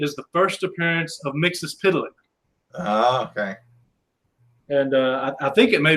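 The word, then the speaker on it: Mxyzptlk: pronounce his name but in the early issues of where he appears it actually goes through and shows you how to pronounce it and it's mixes pillock first curve tonight at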